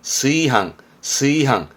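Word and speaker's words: 炊飯: 요렇게 쓰면 뒷글자는 밥 반자라 취반이라 발음은 스이항.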